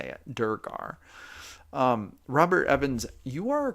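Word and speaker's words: duergar: things and then you take them away it's pronounced durgar oh look at that Herminator at highkey solved that for me with just one simple sentence he taught me how to say it durgar um Robert Evans you are correct and that's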